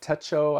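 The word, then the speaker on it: Techo: here um hobonichi TECO Teto I think is how you say it Teto TECO not for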